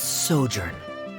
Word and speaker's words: sojourn: everything clear uh directors osimos how do you pronounce this word let me see Ah that's sojourn it means to stay for a while this